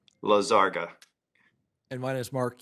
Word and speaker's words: Lizarga: I've got a little crisis of confidence since I've heard 4 or 5 different pronunciations. My name is Lizarga. Lizarga.